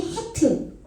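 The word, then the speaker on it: חית: 있으면 나와요 다하고 자인 하트 거기 나와요 이거는 발음을 하여튼 이렇게 세게 해 줘야 돼요 목구멍을 긁으면서 근데 이것이 생명이에요 생명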